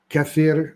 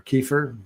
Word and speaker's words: kefir: in kimchi in yogurt in cfir or kefir depends on your pronunciation and we also have